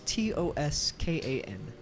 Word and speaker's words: Toscan: To my knowledge, within the common tongue, that is Toskan.